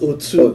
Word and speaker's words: Otu: And I'm talking about none other than our very own Otu, like someone with a sabi play. I always get that a lot. Yeah. It's pronounced Otu. Otu, yeah. So that's here with us is Mix Master Brown.